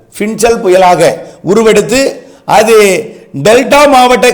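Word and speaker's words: Fengal: பின்சல் புயல் அது வந்து fe ஐ என் ஜே ஏ எல் இப்படித்தான் உச்சரிக்கணும் பின் ஜல் பின்சல் புயலாக உருவெடுத்து அது டெல்டா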